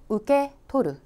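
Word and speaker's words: 受け取る: " 우케토루 " 라는 한자 를 직접 읽으면 ' 영수증 ' 이라는 뜻 입니다 .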